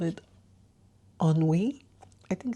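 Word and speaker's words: ennui: the full meaning so it's spelled e n n UI and yes it's called onwe and a feeling of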